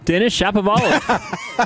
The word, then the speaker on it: Denis Shapovalov: Denis Shapovalov. Yeah, Denis Shapovalov.